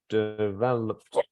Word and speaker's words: developed: Developed. How many syllables? Developed. 4. 4. Developed. 3. 3. 3. Yeah, it seems to be 3, doesn't it? Developed. Because of this becomes like yeah. 1 syllable here. Where's the stress? Developed. 2nd, right?